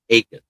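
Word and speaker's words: Jacas: Today's focus, the last name is spelled Jacobs, but it's pronounced Akis. Gabe Akis, edge out of Illinois.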